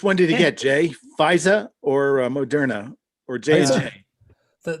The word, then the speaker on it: Pfizer: tony fauci means anything it's pronounced fisa you gotta get that brooklyn new york accent fisa andrew orr is here